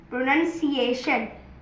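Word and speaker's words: pronunciation: तीसरा लफज़ है प्रोनाउंसिएशन अच्छा लोग बोलेंगे कि प्रोनाउंस प्रोसिएशन सही वर्ड है। पर कभी कबभार हम जो टीचर्स होते हैं उनकी खुद की जुबान फिसल जाती है इस वर्ड के अंदर। प्रोनंसिएशन इसका जो यू है वो अ ऐसे साउंड प्रोड्यूस कर रहे हैं।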